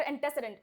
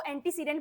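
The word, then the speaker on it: antecedent: ठीक है, pronounce must have a clear एंटेसिडेंट। एंटेसिडेंट का मतलब क्या होता है, आई एम सॉरी, एंटेसिडेंट का मतलब क्या होता है, एंटेसिडेंट का मतलब, इसको एंटीसीडेंट भी बोलते हैं, दोनों प्रोनाउंसिएशन सही हैं, एंटेसिडेंट या फिर एंटीसीडेंट, दोनों प्रोनाउंसिएशन सही हैं।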